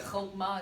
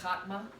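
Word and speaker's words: חכמה: So again, content, you're going to learn vocabulary, and once you learn vocabulary, you're going to know that chokmah is not pronounced chakmah, right? Wisdom, chokmah.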